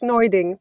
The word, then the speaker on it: Neuding: just live with it uh but it's it's noing but but your verion yeah uh you're uh